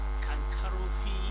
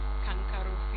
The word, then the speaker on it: Kankarofi: Kankarofi. Kankarofi. It's like Surulere, like Musan, like all the areas in Kano City.